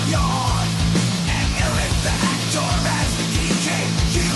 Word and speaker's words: Jon: so perfect John it's spelled like John but it is pronounced like Y and the actor the DJ